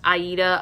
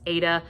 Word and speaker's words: Aida: We have Callum, and I believe it's pronounced Aida. I've also heard it pronounced Ada.